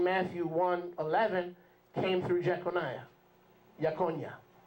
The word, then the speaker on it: Jeconiah: Yakonia. How does it read in the scriptures? Anybody read that for me? How do you pronounce his name from the scriptures? Yekonia.